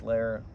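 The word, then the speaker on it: Loehr: actually a lir which is uh the correct pronunciation but it's l o e HR so I've been saying Lord It's lar Dr lar if you see this thank you for all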